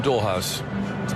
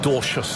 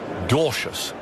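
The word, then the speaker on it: Dwarshuis: Now the debit Ben Doras is or actually Dorsius I think is his correct pronunciation. He's a Dutch extraction. I thought he might have been South Africa with a name like that but language similarities aren't they? But Dutch parentage Dorschious is how it's pronounced.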